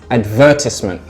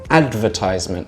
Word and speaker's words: advertisement: my example would be in British English I would say advertisement so the stress is on the ver but in American they say advertisement so the stresses on the ad another example could be